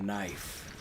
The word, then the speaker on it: knife: for fancy grown adults did you know knack is spelled with a k and the only other thing that's spelled with the k that's silent is the word knife and knives are very